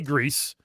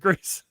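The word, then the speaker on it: Gris: It's uh And how do you say it's a G R I S. I say Greece. What do you say? Is it Greece is actually correct.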